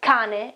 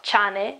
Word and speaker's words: cane: As in this word here, cane, cane, it's dog, okay, cane, it's not chane, it's cane.